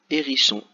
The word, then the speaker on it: hérisson: le cas d' un hérisson 1 on dit un hérisson quand on fait la maison mais si je prends le mot guérison tout seul voilà hérisson s'écrit avec un h que l'on n'entend pas donc maintenant je leur